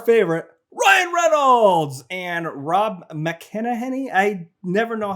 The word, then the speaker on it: McElhenney: So it's starring our favorite Ryan Reynolds and Rob McElhenney. I never know how to say his name. I always say it wrong. But I know add it to the list. It rhymes with McPenny.